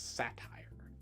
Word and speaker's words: satire: earlier more popular book what are you reading the word is satire go ahead and try it again okay good now go